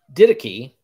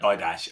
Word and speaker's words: Didache: The didache. Didache. Do you know what? All my life, I've been pronouncing that didash, and as well as I'm sure so many